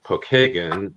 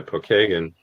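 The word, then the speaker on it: Pokagon: No, it's a Well, it's actually the name Pokeagan is how we pronounce it here in Indiana. Pokeagan is an Indian uh a Native American tribe.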